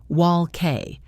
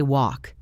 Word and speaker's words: walk: And let us not forget the silent L in walk and talk. We do not say wall K. We say walk.